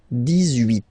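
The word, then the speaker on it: dix-huit: Okay, then 18. So you will make this little link between the two, the liaison. 18, 18, 18.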